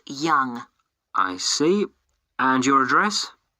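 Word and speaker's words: Yonge: That's spelled Y-O-N-G-E. That's Young.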